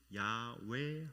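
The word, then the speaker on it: 야훼: 히브리어는 원래 모음이 없습니다. 자음으로만 이렇게 표현하죠. 근데 신명 사문자만 딱 나와 있는 것입니다. 그래서 이것을 어떻게 발음해야 되나 사람들이 알지 못했죠. 그런데 성경학자들이 그것을 연구를 하여서 결국 그 하나님의 이름이 야외 하나님이라는 것을 밝혀냈습니다. 우리가 믿고 있는 그 하나님은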